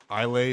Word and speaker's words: Islay: And I have had before, Islay is how you say it?